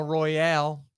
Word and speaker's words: Royale: I mispronounced it Al Royale you said it has a e on the end so what's it it has the e but it's only pronounced Royal okay well this location